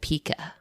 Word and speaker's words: Pika: So yeah, like we mentioned, I'll be pronouncing it Pika, which is spelled Pika. It is pronounced the same as the word Pika, Pica, which is a unit of type size, but also the name